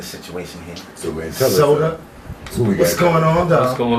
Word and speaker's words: Sota: Yeah, Sota. How's that? You spell it S-O-T-A?